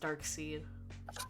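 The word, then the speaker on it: Darkseid: hated it emily's right his name should be pronounced dark seed dark seed but yes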